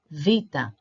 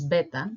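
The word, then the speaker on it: βήτα: E I think but saying V is closer to the original pronunciation so Vita Vita so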